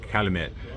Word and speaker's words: Calumet: Calumet, Calumet, Calumet, Calumet, Calumet, Calumet.